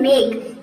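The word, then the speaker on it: make: हम साइलेंट रखते हैं, यानी कि ई को प्रोनाउंस नहीं करेंगे। जैसे कि देखिए यहाँ पे एग्जांपल है मेक, एम का हो जाएगा म और ए का हो जाएगा ए।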